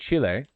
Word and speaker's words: Chile: I would say Chile, like they pronounce it, but then you all